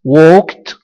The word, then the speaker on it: walked: Walked, walked, صار. لاحظ أن الـ ed تلفظ ت. Walked.